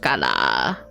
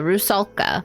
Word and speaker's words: Russula: Island to visit it rala rousa russula that's how you say it head to the shore